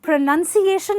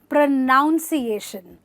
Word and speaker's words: pronunciation: word ironically the word pronunciation itself is pronounced incorrectly because most people say pronunciation which is incorrect you must say pronunciation where you stress this part and you say pronunciation i have really good